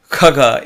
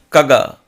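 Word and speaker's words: खग: means bird for example khaga is different from kaga kaga is different khaga kha so there is akka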